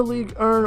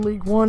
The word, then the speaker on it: Ligue 1: In the Ligue 1, or again League 1 as some people like to pronounce it, last season he was top scorer, I believe, with 26 goals and 11 assists.